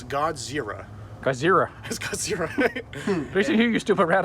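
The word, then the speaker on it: ゴジラ: up a good point how pretentious is it of English speakers to call a Japanese monster Godzilla when they know darn well that they can't pronounce that it's God's zerah zerah here you stupid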